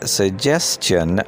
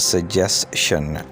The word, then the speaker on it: suggestion: Like the word question, the second syllable of this word starts with a cha sound. So it is suggestion, not suggestion.